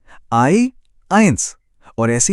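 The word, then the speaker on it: eins: जब भी जर्मन में इ के बाद आई लिखा दिखे तो इसका साउंड हमेशा आई होगा। जैसे इंग्लिश का शब्द आई होता है ना। बिल्कुल वैसा ही सिंपल है ना?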